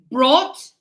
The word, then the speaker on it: brought: This one is br. You have the br like the bra. What is it? Bro, but this one's nothing. So, here is brought bought.